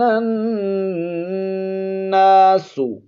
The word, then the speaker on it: الناس: وَإِذَا قِيلَ لَهُمْ آمِنُوا آمِنُوا كَمَا آمَنَ النَّاسُ. نون پر شد ہے، غنہ کریں گے، آگے الف ہے، الف مدہ ہے، 1 الف کی مقدار اس کو کھینچیں گے.